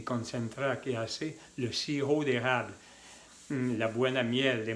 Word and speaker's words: sirop: concentrar, que hace le sirop d'érable. La buena miel de maple. ¿Cómo se escribe? Así. Sirop. Se escribe con la P, pero que no se pronuncia la P.